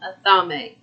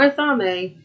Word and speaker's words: athame: your altar is an athame what the is that it is spelled a-t-h-a-m-e it is an a a a thame everybody says it different i call it another